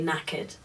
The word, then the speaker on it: knackered: that written down and it confused me because it has a k at the beginning um so it seems like you would pronounce it kaked but you don't you say knacked I think it has